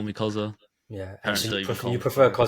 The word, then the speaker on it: Cxzza: my friends call me Koza yeah you prefer then it's pronounced Kaza right yeah it's pronounced it's a